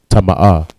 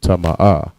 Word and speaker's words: tama'ah: And the word for unclean is tama'ah. All right, tama'ah. Ta, ma, and ah. No letters connect. Tama'ah. Next word we have is uncover.